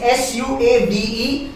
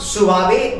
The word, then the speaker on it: suave: It is S-U-A-V-E. It is not suave, मतलब गलती हो जाती है प्रोनाउंसिएशन में। It's called as suave.